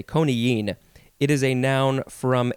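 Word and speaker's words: coniine: to the word koniyen this is a hard word to say konigene and it is uh it's spelled c-o-n-i-i-n-e so there's that double i which makes you say koniyin it is a noun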